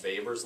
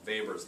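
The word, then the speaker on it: Weber: thing a little bit it's called V's law spelled with a W because it's a German guy so vor's law and that basically says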